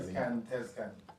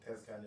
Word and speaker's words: Tezcan: And there's a couple of videos actually on YouTube by, I need to see his name, I'm not pronouncing it properly. Send me that. Tezcan. Mm-hmm. Becky Tezcan.